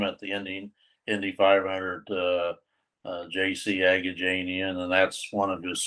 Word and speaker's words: Agajanian: a gentleman that's JC, and how do you pronounce his last name? Agajanian.